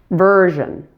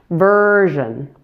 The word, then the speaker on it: version: Then the vowel in the final syllable, zhen, is reduced to a very quick schwa. Let's try the whole word now. Version. Make sure the first syllable is 3 times longer than the ending since it has primary stress.